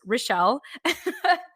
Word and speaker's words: Richelle: Her name is spelled Richelle. So I believe it's pronounced Rochelle.